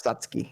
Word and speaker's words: Satsuki: Oh, it's Satsuki, right? Yeah, Satsuki. Okay. I keep wanting like Satsuki. Exactly. But it's Satsuki. Yeah, I keep wanting to put a third syllable in there.